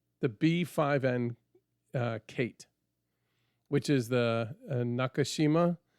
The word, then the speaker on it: Nakajima: He goes, I'm thinking a Japanese torpedo bomber, the B5N Kate, which is the Nakashima, which is actually Nakajima is how it's typed out. But I heard it's commonly pronounced Nakashima B5N, and our designation and from America was called the Kate.